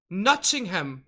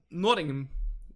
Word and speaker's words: Nottingham: say it like that notingham nodding him forest with Robin Hood like quiet you're pronouncing the teas too much is it like nothing nothing nothing nothing